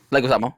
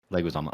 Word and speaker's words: Leguizamo: Leguizamo, yeah. Leguizamo, okay.